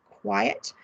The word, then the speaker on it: quiet: So look, they don't sound exactly the same. Quite, quiet.